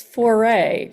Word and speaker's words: Fiore: It's Foray, right?